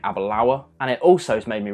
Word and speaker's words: Aberlour: pronunciation of this thing I think I go through and say Abba law a lot of a law when you really want to be saying a Balaur and it also made